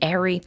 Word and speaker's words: Eri: how i pronounce it just because it looks like eerie but it's actually airy it's strange but i'll